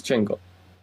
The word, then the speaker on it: Django: no, remember the D is silent. Yes, Django.